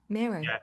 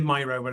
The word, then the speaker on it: Miro: As far as I'm concerned, it's Mero. I do hear it pronounced a lot of different different ways, but but but Miro like it's named after the Spanish painter.